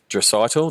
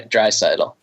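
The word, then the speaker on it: Draisaitl: the name right uh dral no I haven't done it right a little bit more emphasis on the first part in addition to the last part dry dry cidal dry cidal um and building out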